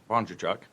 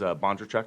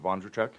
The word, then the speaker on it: Bondarchuk: For some time, I always think it's pronounced with a V, but it is Bondarchuk, not Bondarchuk. It's with a B, yeah, Bondarchuk.